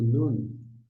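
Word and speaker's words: נון: Sem pontinho, com pontinho ou na forma final, sempre vai ser um N de navio.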